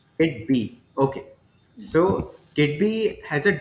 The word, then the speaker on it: Kidbea: Am I pronouncing it किड बी, correct? किड बी, Kitbia. किड बी. Kitbee.